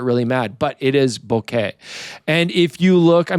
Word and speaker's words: bokeh: I'm from the north of England, so I probably thought it was pronounced bokeh.